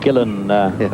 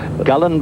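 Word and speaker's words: Gullane: pronounced by the locals gillan, right? But gallan by the gullanites and gillan by the rest of the world.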